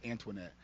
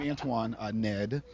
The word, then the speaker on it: Antoine Ned: is Antoine uh Ned I have to say it slowly um and pause in the middle because I'm a little bit High strong and I can speak really fast and if I say my name really fast it sounds like it's Antoinette and I only use